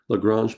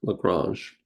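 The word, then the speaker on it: Lagrange: a Frenchman and so we pronounce it the same way he would have pronounced his name lrange this can be difficult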